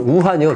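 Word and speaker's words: 武汉: 왜 무한이란 동네에서 나왔을까 실제이 발음은 우한이 중국 발음은 예 우한 근데이 무한이란 동네가 어느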